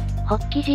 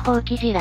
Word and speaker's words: 法起寺: 法起寺または法起寺らしい。でも、寺側では校舎が正式の読み方とのこと。